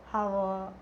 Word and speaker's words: hour: For example, an hour and honor. So H is silent.